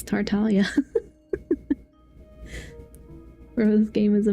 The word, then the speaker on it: Tartaglia: I'm not stooping to Tartaglia's level. I even mispronounced it. It's not. It's Tartalia, bro.